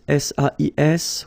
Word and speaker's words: sais: Okay, so if you look carefully here, you write it S-A-I-S, well, the same way here. Here you write it S-A-I-T, okay, but then phonetically these three forms are the same, and it's c'est, okay?